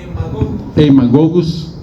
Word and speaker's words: Haemagogus: grupo de mosquitos que en mugus Cómo se pronunciaría Will emus haemagogus Sí sería el otro grupo de mosquitos importantes